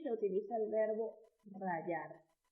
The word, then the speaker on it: rayar: Estos alimentos se rayan con un rallador y se utiliza el verbo rayar. Otro verbo que se pronuncia de la misma manera, pero se escribe distinto, es el verbo rayar con Y.